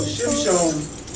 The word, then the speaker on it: Shimshon: Okay, so Shimshon, the root word is Shemesh, which means sun.